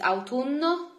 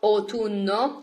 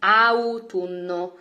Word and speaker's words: autunno: And then here I give you more seasons, like autumn is autunno, autunno. It is very similar to English. Just remember that in Italian we pronounce all letters, so it's not autunno, it's autunno.